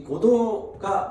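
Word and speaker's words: Godot: 그래서 고도를 기다리며, 이 고도가 뭘까? 오래된 도시, 뭐 그렇게 저는 생각했었어요. 어제까지도요. 고도가. 근데 이 고도가 사람 이름인 거예요. 사람 이름. 고도라고 하는 말도 그 한글이 아니라 고도라고 하는 말이 그냥 프랑스어 발음입니다.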